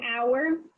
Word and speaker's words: hour: word hour what an hour you don't you don't pronounce the h so you don't say how so you say our so that one's gonna